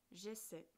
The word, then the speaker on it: essaie: J'essaie. La terminaison ne se prononce pas comme dans j'étudie ou je prépare. A et I donnent le son E.